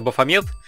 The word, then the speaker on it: Бафомет: голове также сказать что правильно кажется бафомет то есть через букву е ударение на нее соответственно я посмотрел убедил что